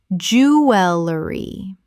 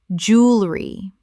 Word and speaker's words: jewelry: interesting interesting Word nine jewelry common mispronunciation jewelry correct pronunciation jewelry Only two syllables in natural British English speech. Americans say jewelry with three.